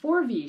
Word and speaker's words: Forvie: which is the F forv Shaw I keep wanting to mispronounce it and call it the F Shaw it's f o RV i e and this came out